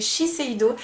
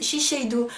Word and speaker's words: Shiseido: de chez chiseido d'ailleurs c'est chiseido je sais pas pourquoi il y a plein de gens qui disent chido alors je pense que c'est un problème de prononciation dites-moi mais non c'est bien chiseido oui il y a pas